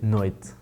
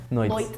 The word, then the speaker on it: noite: In Brazil, São Paulo, we say noite. Some parts of Brazil, you're gonna also hear noite, which is like a TT. We say our T when it next after the T has a E, a lot of times, or the letter E. We're gonna pronounce this as a ch.